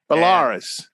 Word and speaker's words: Belarus: Belarus.